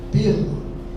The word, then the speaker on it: pela: A preposição pela é pronunciada com a primeira vogal fechada. pela enquanto a forma verbal pela é pronunciado com a primeira vogal aberta da sempre o exemplo facilita. Analisando pela sua ótica, não devíamos ter comprado esse carro. Ele pela o tomate antes de tudo. É verbo, é aberto o som.